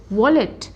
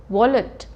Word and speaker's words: wallet: हम इंग्लिश में क्या बोल देते हैं, वॉलेट। Okay, in ही has lost his वॉलेट, इट इज़ नॉट वॉलेट, he has lost his wallet.